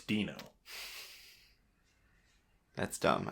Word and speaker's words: Dino: That's how it's spelled. It's like Dino, but it's Dino.